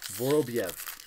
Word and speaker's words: Vorobyev: Vorobyev.